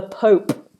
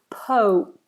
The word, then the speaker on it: Pope: the religion is the Pope. Just be careful not to pronounce this as pop or poppy. It's po. Almost as if there's a little W there. Imagine a little W. Pope.